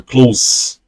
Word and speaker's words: clothes: A pronúncia de roupas é igual a pronúncia de fechado. É close. Close. Não tem T e não tem E.